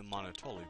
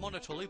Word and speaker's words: Monotoli: go further into the Monotoli building. Actually, I've been saying it Monotoli, but I think it's pronounced Monotoli, as in this, like, rhymes with Monopoly, because, you know, big corporation and all that.